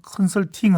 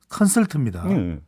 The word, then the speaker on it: 컨설트: 모닝 컨설팅 아니고 컨설트입니다. 예, 잘 발음을 해줘야 되는데